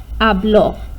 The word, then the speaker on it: habló: And the difference in pronunciation, habló, habló. Okay, that's where the oomph is.